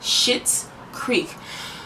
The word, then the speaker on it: Schitt's Creek: bought as a joke and it was called shit's creek but it's spelled s-c-h-i-t-t apostrophe s of course but the